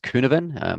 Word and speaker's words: Cynefin: And there's a framework here, which is, it's actually pronounced Cynefin. It's a Welsh word. So don't worry, sorry, apologies to my Welsh colleagues and Welsh friends. I'm sure I've massacred that. But Cynefin, it's a technique that